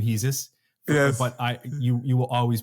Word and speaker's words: Hesus: I really always am going to call you Hesus for the rest of my life. I know that some people call you Hesus. Yes. You pronounce sometimes your own name Hesus.